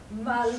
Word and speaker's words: Maluz: Maluz. Maluz! Listen carefully. Maluz! Your pronunciation is poor, Mr.